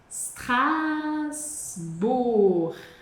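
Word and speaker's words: Strasbourg: Strasbur e o gão, ó, com u, som de u, como no no G de luvra, strasbor. E aí, para você treinar sr você vai separá-lo com uma pequena respiração, stras bur e aos poucos você vai acelerando. Super.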